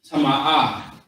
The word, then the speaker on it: Tama'ah: The word is going to be Tama'ah. Tama'ah. You got to exaggerate it just a little bit because there's an extra A in there.